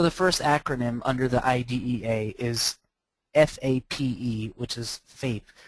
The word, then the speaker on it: IDEA: Most people don't refer to it as IDEA, even though it's spelled that way. So if you're trying to sound very savvy in an IEP meeting, don't say IDEA. Go with IDEA.